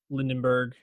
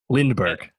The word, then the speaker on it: Lindbergh: The plot is basically if Lindenberg won the presidency. Lindenberg. You got it. Lindbergh. Lindbergh. Oh, I'm sorry. I was like, am I saying it wrong? I was saying it wrong.